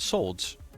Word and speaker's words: swords: It's the seven of swords. W is silent.